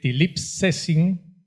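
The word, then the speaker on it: θλίψεσιν: Ahí aparece una palabra que en griego se escribe tilipsesin, de elipsis, algo así se pronuncia, y esa palabra quiere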